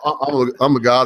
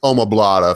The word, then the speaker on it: omoplata: When you extend the arm for arm bar, Amagata is one of the worst, or arm triangle, whatever you want to call it. And I always say it wrong. It's omoplata for anybody listening.